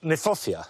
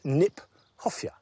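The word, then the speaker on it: Kniphofia: I like the fact that nephosia, which is an awkward word, not an easy word to say. In fact, is mispronounced. We should pronounce it Nip Hofia because it was named by Johan Heronomous Nip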